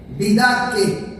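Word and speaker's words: didaché: Para esa palabra es didaque en griego, didaque con acento en la E.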